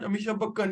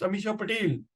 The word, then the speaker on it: Amisha Patel: heroine at that time so I thought he's mispronouncing a name I said no no it's not Amisha bakan it's Amisha Patel I know Amisha pel